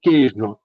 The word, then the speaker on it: queijo: Então, se eu posso dizer queijo e a palavra segue sendo a mesma, esse i é uma semivogal e o e é a vogal.